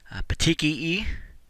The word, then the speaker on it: petechiae: See the next one, petechiae is how that word is pronounced.